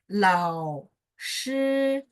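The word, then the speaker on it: 老师: Kalau launya tunggal sendiri kan lao. Ya, agak naik kan. Tapi kalau misalnya dia sampingnya ada huruf lain, berarti lao. Turun naik dikit, habis itu nyambung ke sampingnya. Lao shi, lao shi. Ya, kayak gitu ya teknik untuk baca.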